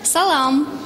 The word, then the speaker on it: салам: Где в чувашских словах ударение? Это очень просто. Ударение падает всегда на последний слог. Салам.